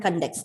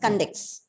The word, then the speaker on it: conduct: The first syllable is stressed as it is a noun.